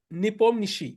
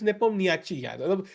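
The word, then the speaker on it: Nepomniachtchi: where I could play is pronounced as Nepom Nishi I heard him heard his name yeah yeah it is Nepomnishi but English language may it is Nepomi You have to be fair.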